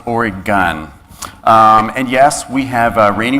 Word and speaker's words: Oregon: some of my colleagues it is pronounced or a gun not or gone so if you don't want to stand out it's or a gun and yes we have